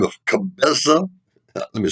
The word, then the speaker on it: Cabeza de Vaca: ground um another spaniard by the name of cabeza let me spell that one for you c-a-b-e-z-a cabeza de vaca d-a-c-a which in spanish means head of a